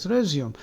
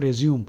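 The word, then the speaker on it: résumé: so they are resume remember the pronunciation is resum because English is a stupid language they have no rule no Rhyme or no Rhyme or Reason why it is resum not resume of course the word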